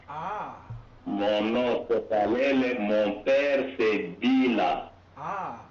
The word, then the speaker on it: Kalele: Ah mon nom c'est Calel.